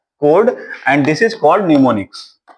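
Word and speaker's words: mnemonics: and this is called निमोनिक्स यहां प am silent रहता है this is called निमोनिक्स am silent रहेगा ॉ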